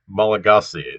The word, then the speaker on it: Malagasy: pronounced on antananorivo and uh the language is pronounced malagasy you know that uh that uh that you